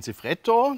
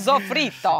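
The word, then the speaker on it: soffritto: ja wir brauchen einmal ein zifretto das gehört z zu polonese sofrito die Italienerin it sofrito ich wollte sie nur mal testen richtig ausgesprochen und natürlich machen wir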